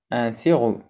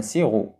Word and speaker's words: sirop: un sirop شراب بي ما كنطقوهاش. un sirop.